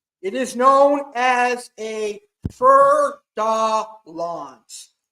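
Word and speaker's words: fer-de-lance: It is known as a fer de lance, or you pronounce it as fer de lance.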